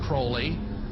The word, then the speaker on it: Crowley: be have his name pronounced crowley to rhyme with holy and the satanist today